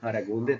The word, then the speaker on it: Aragunde: My name is Aragunde. That's how you should try to pronounce it.